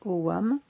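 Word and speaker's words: ogham: des des AM donc ça sécrit au GAM mais ça se prononce au WAM et donc ça correspond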